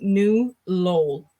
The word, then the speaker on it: New Lowell: The city I live in is actually pronounced New Lowell.